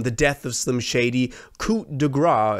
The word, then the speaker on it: coup de grâce: Death of Slim Shady, Coup De Grâce, as I now know it is pronounced in French, where I talked about my worries for this album.